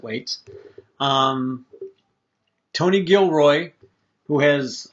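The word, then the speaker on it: Weitz: credits go to uh chris weights w-e-i-t-z weights i'm going to pronounce it wait um tony gilroy who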